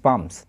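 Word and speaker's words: palms: হাতের তালু ওকে তো এখানে এল টা কিন্তু সাইলেন্ট থাকবে পি এল এম এস পামস এখানে কিন্তু প্লুরাল হিসেবে ইউজ করা হয়েছে হেয়ার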